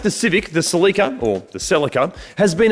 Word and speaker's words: Celica: one that's often forgotten it's the toyota celica or the celica both pronunciations are correct we call it the celica here you might call it the celica there they're both right as we mentioned at